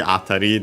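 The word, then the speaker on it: 辺り: Its meaning of actually atari, the accent is on the first mora, yeah.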